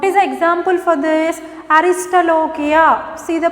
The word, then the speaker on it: Aristolochia: Aristolochia. See the pronunciation? Aristolochia.